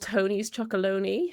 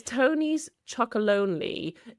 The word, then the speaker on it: Tony's Chocolonely: There's a company, I don't know if they're in America, but called Tony's Chocolonely. Have you come across them? Oh, I love the name. Yeah, Actually, I said it wrong. It's Tony's Chocolonely.